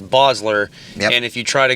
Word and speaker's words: Basler: and called you back Bassler or Basler cuz that's what people say but it's actually Bosler but b a s